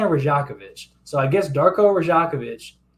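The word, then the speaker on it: Rajaković: The commentator said Rajakovic, which is weird. I was saying Rajakovic, but they were saying Rajakovic.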